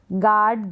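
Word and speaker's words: guard: के बाद में आई है तो इन सारे स्पेलिंग में यू के बाद में एक और वावेल आया कोई सा भी हो सकता है तो वहां पर यू क्या है साइलेंट है यू का उच्चारण नहीं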